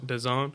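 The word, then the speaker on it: DAZN: it how do you say it the platform The Zone yeah and I never knew how to pronounce that thing d-a-z-n yeah let's call it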